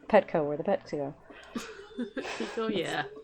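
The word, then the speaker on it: Pekoe: So it's Pico, not Petco. Okay, Yeah, so it's Pico. not Petco, where the pets go. That's why I have to remember it. I would say the K is in the second syllable.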